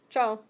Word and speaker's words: ciao: Harder to spell than it is to say. How many know the Italian? Ciao. I do. Okay. It's the same. That's how it's pronounced. Ciao.